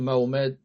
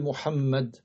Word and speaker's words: Muhammad: Mais ce n'est pas valable de lui qu'ils disent Muhammad ou bien Muhammad ou bien Muhammad ou bien Mahomet. Tout ça, ce n'est pas correct. Donc le prophète s'appelle Muhammad.